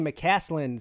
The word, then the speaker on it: McCaslin: Clemson Carson says, yo, McCaslin, sup Pete, Uncle Luke. Not to be confused with Uncle Lou. I have to pronounce the hard K there. Otherwise, I sound like I'm saying somebody else's name.